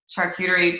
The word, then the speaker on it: charcuterie: Like, you supply the charcuterie.